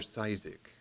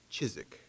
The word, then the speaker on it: Ciszek: presentation this evening i thought was on father sizak but i just learned it's pronounced chizik okay our speaker will be uh carlos esparza